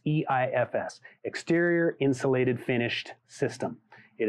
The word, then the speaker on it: EIFS: eefs is so e-i-f-s some people improperly pronounce it as ephis but it's e-i-f-s exterior insulated finished system